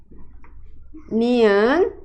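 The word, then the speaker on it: 니은: Vamos agora aprender a consoante nian. Nian se escreve assim, de cima para baixo e assim, certo? E tem o som de ini, de navio, tá? E o nome dessa consoante é nian. Nian.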